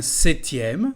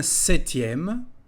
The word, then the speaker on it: septième: Un septième, si vous voulez répéter avec moi. Un septième. La lettre P ne se dit pas.